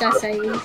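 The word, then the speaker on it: açaí: Yeah, it's pronounced acai.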